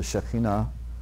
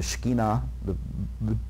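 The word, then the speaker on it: Shekhinah: the sages have called the shakina or the shekinah depending on your pronunciation the more one's will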